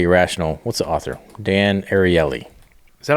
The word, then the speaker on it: Ariely: Dan Ariely. Is that how you say it? That's how they said it on the podcast, on the audiobook. audio. Yeah. Ariely.